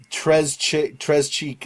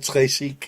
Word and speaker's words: très chic: It's just sometimes some of the things he pronounces, tres cheek instead of tres chic and stuff.